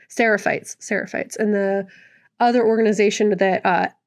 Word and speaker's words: Seraphites: character of Lev and Yara, they're from the Sephites. I think I said it right. Seraphites.